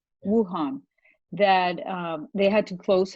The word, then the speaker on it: Wuhan: Apparently, there was a market in this town, Wahoo, I think is how you pronounce it. Yeah. Wuhan, that they had to